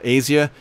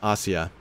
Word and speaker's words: Asia: This poor woman, Asia Bibi, it looks like her name is spelled like what we call Asia, but it really is Asia, is being horribly abused